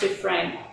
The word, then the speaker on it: Dufresne: It's spelled Dufresne, but it's pronounced Dufresne.